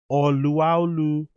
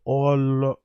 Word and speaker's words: Olaolu: The correct pronunciation is Oluwalu. Oh wow, I didn't even know that. It's O. So that O is like an R. It's Oluwalu Slawn.